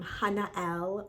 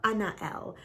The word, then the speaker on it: Haniel: she comes to me she pronounces her name Hannah l or Anna L which I think is the Hebrew pronunciation of her name and you're about to